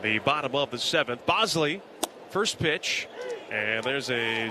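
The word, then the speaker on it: Boushley: Bosley spelled as if it should be pronounced Bushley has a 5.93 erra in 23 appearances this year.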